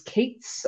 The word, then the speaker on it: k8s: It's pronounced A11Y, and that's a numeronym for accessibility. Another good tech numeronym is Kates, so K8S, and that's for Kubernetes.